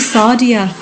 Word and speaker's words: Sadia: It's all right now, but it's actually Sadia. I've been meaning to, you know, like Nadia in Britain's Bake Off, yeah. Nadia, it's exactly the same but with an S, Sadia.